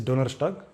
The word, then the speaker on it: Donnerstag: And also for Thursday it is Donnerstag, again ST appearing in the middle of a word.